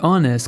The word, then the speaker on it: honest: honest person apesar de honest começar com a consoante H nesse caso o h não é pronunciado fazendo com que a palavra inicie com o som de o vogal an honest Person an